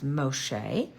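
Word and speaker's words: משה: egyp name which is Mos and the Hebrew pronunciation of that is Moshe and then in English and our Bible we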